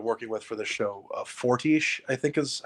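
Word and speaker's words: Fortiche: that they've been working with for this show forti I think is how it's pronounced they have said that Arcane is not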